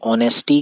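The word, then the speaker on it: honest: और अगर हम बात करें साउंड की तो ऑनेस्टी की जो साउंड आ रही है वह ओ साउंड से स्टार्ट स्टार्ट हो रहा है। ऑनेस्ट इसको हम इसका प्रोनाउंसिएशन जो है वो आएगा। तो ऑनेस्टी की जो साउंड है वो वोवेल साउंड है और फिर से हम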